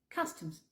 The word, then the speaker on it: customs: arrival la douane coms le U se prononce comme si c'était un a en fait et le comme un e coms customs sécurité security le le